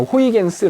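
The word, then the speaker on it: Huygens: 그렇지 어 여기 보면 하이원스 하잖아 이거 이제 네덜란드 발음을 호이겐스 고도 했어 옛날에는 그래서 하이원스 호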